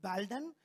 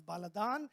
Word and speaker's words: Baladan: I'm telling you exactly how the Assyrians pronounce it. Nathan would be looking at me and saying, is it Baldan? Yeah, you can say it's Baldan, but it is Baladan.